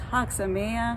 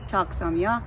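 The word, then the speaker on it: חג שמח: anybody woke up so it's haksa maya it is not talk samyak it is hak samiya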